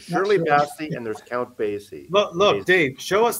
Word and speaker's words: Basie: Because I mispronounced it once and Count now I've been. Basie? Count Basie.